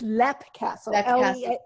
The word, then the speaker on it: Leap Castle: world renowned i mean it's lep castle but it's spelled l-e-a-p yeah um and i